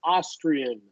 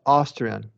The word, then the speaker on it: Austrian: So we're gonna do a like a short O for relaxed lips, Austrian. Okay. Sorry, Austrian. Austrian could be short O, lack short A. Doesn't matter. They're the same sound Austrian.